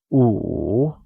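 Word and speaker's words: 午: tone means ladder and Wu pronounced in the third tone as o means noon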